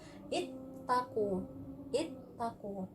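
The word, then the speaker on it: اتقوا: Jadi bacanya kasroh, ittaku.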